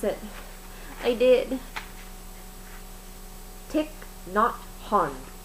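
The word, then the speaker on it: Thich Nhat Hanh: I know I know I learned how to pronounce it I did take tick not hon tick not hon that is how you pronounce his name this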